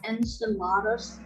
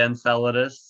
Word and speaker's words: Enceladus: i just realized enceladus kind of sounds like enchiladas yeah you could say you could say enceladus uh sounds like enchilada